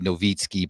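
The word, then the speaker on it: Nowicki: My son, so my last name is Noiki. N O W I C Ki. It's Polish. It's actually supposed to be Novitzki, but nobody understands that's how you pronounce it.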